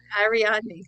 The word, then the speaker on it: Ariadne: Ariadne, thank you. I always forget how to pronounce these things.